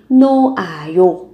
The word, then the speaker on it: 놓아요: Các bạn có ở đây nota khi mà các bạn chia tay yo biến đổi thành noayo. Âm hờ này được coi là âm câm, các bạn không nối lên để phát âm.